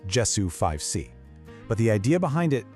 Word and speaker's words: JESU5C: It's pronounced Jessu 5C, but the idea behind it is actually incredibly simple and pretty powerful.